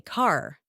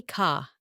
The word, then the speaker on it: car: So in a word like car, I don't say car. I say ka. The R is silent.